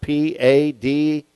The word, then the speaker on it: pada: how you are redeemed that's how you pronounce that p-a-d-a pada okay to sanctify or